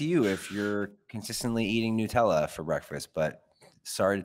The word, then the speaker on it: Nutella: everyone it's not pronounced Nutella it's pronounced Nutella Nutella Nutella Nutella Nutella like nuts it's it's right it's